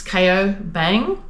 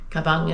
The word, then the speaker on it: Cao Bằng: kabang um yeah it's some people thinks it's KO Bang but I've actually discovered it's kabang so kabang is the right pronunciation I think for it um yeah so we